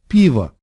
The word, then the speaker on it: пиво: For example, молоко, that word clearly ends in an O, but this word, пиво, you can't really hear the O there.